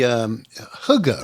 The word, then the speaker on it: hygge: Is the hygge, right?